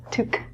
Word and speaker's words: toque: is a winter hat the pronunciation of this word is different than the spelling because it's French this is spelt - took took the word itself